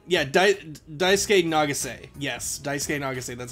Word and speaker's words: Nagase: ko ichigo of the basketball team and daisuke nagasaki yeah i think it's nagase yeah daisuke nagase yes daisuke nagasaki that's how you say his